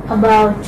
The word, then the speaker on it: about: And about. About, okay. Again the stress will come on the second syllable.